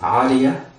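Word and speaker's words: عارية: It is pronounced Aariya or Aariya.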